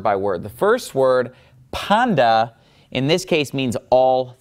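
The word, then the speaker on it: πάντα: ending right here that's on the end of panda and of course I'm pronouncing it Panda because the T whenever it comes after KN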